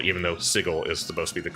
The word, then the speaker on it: Sigil: Planescape era, there's Sigil, but I always say Sigil, even though Sigil is supposed to be the correct pronunciation of it.